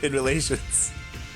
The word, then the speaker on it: InMoLaTioNs: That's how you say it, right? InMoLaTioNs? Yeah, in relations.